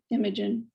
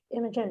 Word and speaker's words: Imogen: up your name could you tell us the pronunciation of your name imogen imogen a a-rate can you all hear me okay